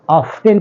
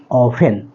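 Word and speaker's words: often: टी एन बेटा को लोग कुछ लोग ऑफ्टन पढ़ते हैं ऑफ्टन वर्ड नहीं होता है यहां पर टी लेटर जो है वह साइलेंट है तो आप पढ़ेंगे ऑफेन नॉट ऑफ्टन ठीक है तो इसके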